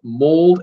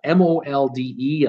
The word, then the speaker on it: Molde: The area, the port that they came to is called Molde, M-O-L-D-E. I think the E is silent.